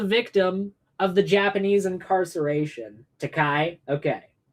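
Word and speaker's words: Takei: Teai. Okay, it's pronounced Teai.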